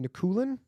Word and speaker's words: Nikulin: um did i get your last name correct nakulen is that right yeah yeah you're you're you're good actually like people pronounce it differently okay well i have a